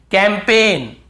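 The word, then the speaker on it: campaign: कैंपेन, कैंपेन, कैंपेन, यहां पर भी जी साइलेंट है, कैंपेन।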